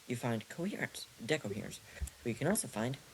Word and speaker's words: decoherence: Decoherence? Decoherence. It's pronounced decoherence. Um, why is that important? Which is literally what the prefix D means. De. It, yeah, it's de. De, de, de. Like Spanish de.